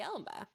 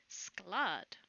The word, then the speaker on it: Sklad: What about the Elba? That's not how my name is pronounced. It is Sklad.